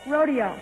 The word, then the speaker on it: rodeo: So many people do refer to them as chaps, but of course they are pronounced chaps. And the next one is R-O-D-E-O. Joel? Rodeo. Paul? Rodeo.